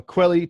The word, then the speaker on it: Kweli: So, ladies and gentlemen, 4 Points is available on Quelly TV. So it's spelled KWELI.TV.